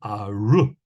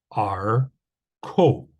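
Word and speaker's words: ארכו: Okay, and if that's a comments, then it would be aru, because again, comments is a long vowel. And usually a schwa after a long vowel is pronounced. But since this is not a kametz, but a kametz hatuf, this is a silent schwa. So we have ar ko, okay?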